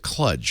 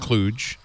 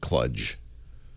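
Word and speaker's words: kludge: a bit in it except that the reader pronounced it cludge which really annoyed the heck out of me it's pronounced Cluj KL u d g it's a it means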